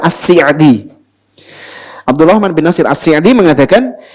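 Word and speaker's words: As-Sa'di: Keluarganya sendiri mengatakan cara baca yang benar adalah asi.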